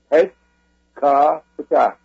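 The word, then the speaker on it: Hwt-ka-Ptah: And that's pronounced, when you read it, Het Ka Ptah.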